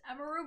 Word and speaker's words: Emiru: people say yeah well people call me Emmy but it's emu but I don't call people call I don't want if people call me emiru oh like it's just